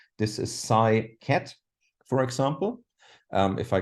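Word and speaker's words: ket: this here is called cat not like the animal but K T that's how I pronounce it so I say this is Sai cat for example um if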